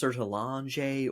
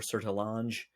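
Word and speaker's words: Sertillanges: I've heard it pronounced Sertalange or Sertalange. It's Ges is the end. It's a French name.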